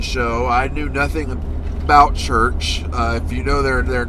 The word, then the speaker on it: Chrch: Chrch opened the show. I knew nothing about Chrch. If you know their name, it's spelled CRVCH, which is the old English way of spelling it, I believe.